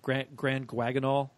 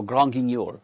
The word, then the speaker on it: Grand Guignol: defend Opal, especially through I might pronounce it wrong. Grand Guaginal. Oh, Grand Guignol. Thank you.